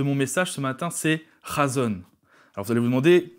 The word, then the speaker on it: chazown: mot du mot razones s'écrit chazottes mais qui se prononce razones razon c'est un mot